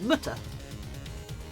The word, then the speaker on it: Mutter: Can you say Mutter in German? Because it rhymes with German with butter. Mutter.